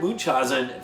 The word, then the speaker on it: Munchausen: also in '87, and The Adventures of Baron Munchausen, that's how you say it, in '88, where the second unit director was one Michele Sauvé.